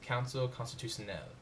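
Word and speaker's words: Conseil constitutionnel: The final portion of French law in the judiciary in France is the Constitutional Council, pronounced Council constitutionnel.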